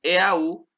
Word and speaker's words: eau: Los nombres que terminan en EAU te toman una X en el plural, o sea, al final se escribe una X. Recuerden que EAU en francés se pronuncia O, ¿vale?